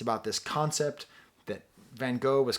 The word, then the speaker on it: Van Gogh: Proper pronunciation. He doesn't particularly like Van Gogh that much, but this one painting he happens to like a lot.